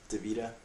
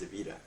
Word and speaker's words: Davida: But I'm talking about Davida. Everybody calls her Davida, but actually her name's pronounced Davida.